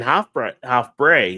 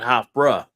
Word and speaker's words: Hofbräu: I never knew what an A sound was supposed to be, but they kept saying Hofbräu, not Hofbräu.